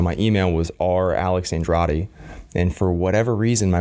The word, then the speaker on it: Andrade: they call it roll so Andrade would become a Don dee and Roy de Andrade and to Hays you